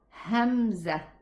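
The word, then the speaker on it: همزة: lot of air to push it outside and pronounce this letter. Again, ha, hu, he. What about this letter? It's a hamza.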